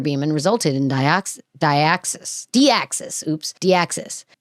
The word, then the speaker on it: Deoxys: Deoxys. Oops. Deoxys. It's It's spelled like dioxysis. And that's how I want to say it. Or is it It's Deoxys.